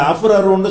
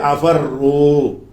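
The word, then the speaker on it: أَفَرُّ: அந்த ராவுக்கு முந்தி சுக்கூன் இருந்தால் வாசிக்க முடியாதுங்கிறதுனால இந்த ஃபத்தக ஃபாவுல கொண்டை கொடுத்துட்டு அஃபர்ரு. அப்போ அஃபுரரா அஃபுரரு என்பது பிழை. அஃபர்ரா அஃபர்ரு இது உச்சரிக்க வேண்டிய முறை.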